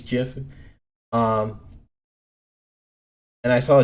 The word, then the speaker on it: GIF: a cool GIF because I'm not saying GIF it's not the right way to say it's always Jeff um and I saw